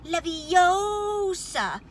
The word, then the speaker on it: Leviosa: it wrong Harry Hermione snapped its when Guardium Leviosa make the gun nice and long you do